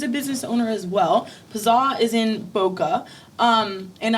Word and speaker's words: PZZA: No, the name of the restaurant is Pazah. So, just drop the eye from pizza. And this one confuses a lot of people as well. That's how you say it. Pazar. Pazah.